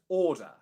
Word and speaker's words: order: So in BBC English, if you see an R sound spelt in a word after a vowel sound, you do not pronounce it.